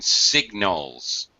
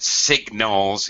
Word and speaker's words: signals: on the road but signals you definitely hear the G get signals a little a lot